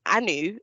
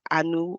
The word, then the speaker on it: Anu: But Anu is a shortened version of Anu, and some people will get at me for my pronunciation. But that's how you say my name.